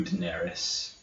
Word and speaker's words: Daenerys: Daenerys.